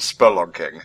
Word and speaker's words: spelunking: just like to clarify it's pronounced spon King not spling oh jeez yeah that's